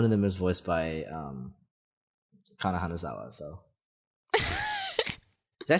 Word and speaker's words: Kana Hanazawa: and also one of them is voiced by Kana Hanazawa. So did I say that right? Kana Hanazawa. Your wife. I can never remember if it's Kana Hanazawa or Hana Kanazawa. Okay, it's Kana Hanazawa.